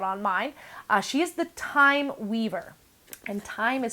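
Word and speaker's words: Thyme: mine she is the time Weaver and time is spelled like also my nose itches all this fuzz time is spelled like good plant so th ym e Weaver she has her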